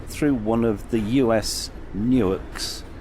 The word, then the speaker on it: Newark: We then cross the Maryland-Delaware state line, and we travel through one of the US Newarks, pronounced Newark, founded in 1694.